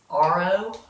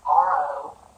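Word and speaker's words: yarrow: And they are called, I think they're called RO bushes. It's spelled Y-A-R-R-O-W, so I'm thinking it is RO.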